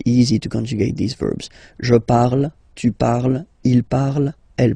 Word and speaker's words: je parle: put the ending e, and then the way to pronounce it is je parle, parle. So remember, we put it, okay, but then we don't really pronounce it.